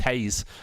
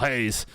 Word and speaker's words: Reis: Let's talk about Vitor Reis. I'll go through the Vitor Reis. Someone threw me off with the pronunciation on a video yesterday, saying it's pronounced Hayes with H.